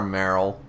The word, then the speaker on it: Marill: because it's a zedu added on to Merill Merill you pronounce Merill so you don't you don't call